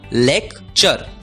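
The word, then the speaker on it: lecture: आवाज होती है चर इसलिए एल ई सी टी यू आर ई का उच्चारण होगा लेक चर लेक्चर लेक्चर मतलब भाषण अगला शब्द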